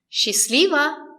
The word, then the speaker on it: Счастливо: The stress is on li. Счастливо. Счастливо. The letter S and the letter Ch are pronounced as sh. Счастливо. Счастливо. The letter A is not stressed. It is after sh. We pronounce it as I. She. Счастливо. The letter T is silent. We don't pronounce it. Счастливо. The letter O is not stressed. We pronounce it as a. It's short.